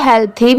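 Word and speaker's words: healthy: T planet ये है हेल्दी एच ई ए एल टी एच वाई आप इसे हेल थी भी प्रोनाउंस कर सकते हैं और हेल्दी भी ठीक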